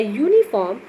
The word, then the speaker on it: uniform: The O is in 1 is pronounced as W in 1, a consonant sound, whereas a uniform, the U in uniform is pronounced as yo, a consonant sound.